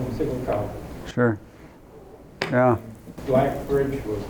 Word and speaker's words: Siggelkow: If you use GPS, they announce it Sigelco. I mean Sigelco. Oh. Huh. I think I knew Lyle Stiglcow, that's how he said it? a year younger in school. Oh, yeah, Everybody called him Stiglcow.